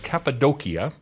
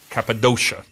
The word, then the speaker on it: Cappadocia: This is in a region called Capidokia or Capidoshia as it said if you angllicize it and every ci is pronounced sh.